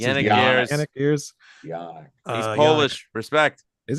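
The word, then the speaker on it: Janick Gers: How you pronounce it? Yannick Gers.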